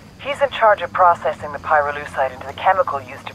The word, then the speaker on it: pyrolucite: You know what pyrolucite is, right? Yeah, neither did I. Pyrolucite, key syllable pyro, by the way, is